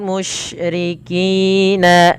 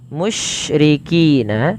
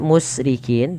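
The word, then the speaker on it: مشركين: Kemudian walal musyrikina ay yunazzala, musyrikina ada shin ya, di sini ada huruf shin. Hati-hati dalam melafalkan huruf shin, tidak boleh terbaca dengan huruf sin teman-teman. Jangan dibaca musrikin tapi dia mush.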